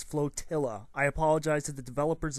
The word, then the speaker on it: Flotilla: space in quote-unquote flotilla the name of the game is constantly mispronounced it is flotilla i apologize to the